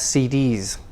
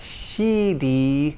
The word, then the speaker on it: CDs: jazz jazz cds jazz cds not she d but cd c keep the s not like a sheep cd now we talked